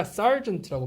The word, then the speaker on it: sergeant: sir이 아니라 sergeant라고 발음되거든요.